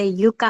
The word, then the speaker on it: Yuka: I use the Yuka app. Are you familiar with that? No. Which one? It's spelled Yuka like in Spanish, like I like Yuka. Uh-huh. Y-U-K.